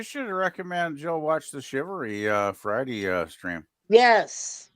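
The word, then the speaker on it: shivaree: film yeah you should recommend Jill watch the shivery uh Friday uh stream yes yes H okay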